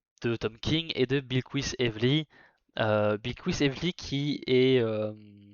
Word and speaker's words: Bilquis: Alors, ils disent Bilqui, ce qui me stresse beaucoup parce que ben, Bilquis Evely est brésilienne et on prononce pas ça Bilqui, on dit Bilquis, si je dis pas de bêtises.